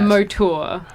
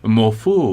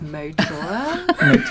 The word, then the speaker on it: Mauthoor: Yeah, 'cause no, it's- I've been going morphu. Morphoor. That's kind of nice too, but no, yeah, it's spelled Mauthoor. So everyone's like mouth, and I'm like, no, it's Motor.